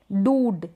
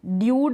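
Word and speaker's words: dude: पढ़ते हैं, जैसे कि ये है डूड, ड्यूड नहीं पढ़ेंगे इसको, अब हम पढ़ेंगे डूड, ऊ का साउंड आ रहा है।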